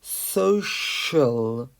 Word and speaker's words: social: the pronunciation so sure many people pronounce this C as a chess sound but it's not social it's social who is studying Social